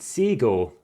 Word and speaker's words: Cego: traditional card game and this game is called seagull now there's a few other pronunciations for it and this time i'm calling it that c-e-g-o you can have z-e-g-o amongst other pronunciations and spellings and as you can